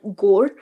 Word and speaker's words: gore: Section between the cups, it's called gore. rhymes with more, gore, more.